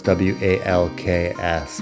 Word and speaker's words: walks: There's a silent L in walks, of course, WALKS.